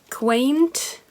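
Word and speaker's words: queynte: english um swear word quay quaint that's how you say it oh i've put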